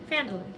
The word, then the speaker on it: Phandalin: Is that actually how to say it? Phandalin? Right there. Phandalin. Okay. Yeah. You did that correctly.